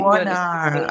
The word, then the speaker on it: Warnaar: Do I pronounce that right? Sarah Warnaar. Warnaar, okay.